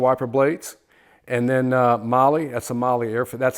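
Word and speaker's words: MAHLE: blades and then uh Molly that's a mly air that's how it's pronounced by the way it's not mal it's Molly okay and um this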